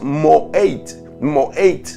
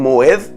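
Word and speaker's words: מועד: Y entonces en el hebreo nos encontramos con esta palabra que es moed, así se pronuncia. Otros la pronuncian moed, otros la pronuncian moí.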